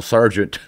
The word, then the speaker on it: sergeant: his other Southern friends, spelled sergeant S-A-R-G-E-N-T, which makes sense. That's what it sounds like. It should spell it like that, but of course, it's spelled weird.